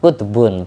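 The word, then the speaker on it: قطب: Kutbun pakai qof bukan pakai kaf. Kalau pakai kaf kutub ya beberapa kitab tapi yang dimaksud bukan itu.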